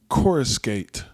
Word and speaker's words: coruscate: Today's word is coruscate. Coruscate. Coruscate. Okay. Let's spell it. Coruscate. I picked this word because it sounds like chorus.